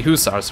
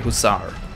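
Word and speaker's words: hussar: six here that's the usars right no drons and I completely butchered the way just say huzar there we go oh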